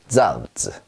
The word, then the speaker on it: Salz: 자 어떻게 발음하냐면 쌍지읒 발음이 납니다. 우리말로 약간 세게 쯔 소리가 난다. 그래서요, 소금이란 뜻이죠. Salt, salt 이렇게 해주시면 되겠어요.